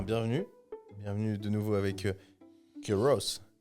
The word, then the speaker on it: Kyros: Et ben bienvenue bienvenue de nouveau avec Ky Ros ou des fois certains disent Kyos avec la prononciation américaine.